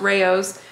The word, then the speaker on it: Rao's: also got the Rao's we found out from you it's pronounced Rao's but this time we're